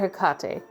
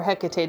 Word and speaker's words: Hecate: and then we have mother hakate or Hecate depending on your pronunciation they're both Crossroad energies